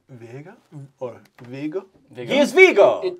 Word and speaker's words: Viggo: He is Vigo.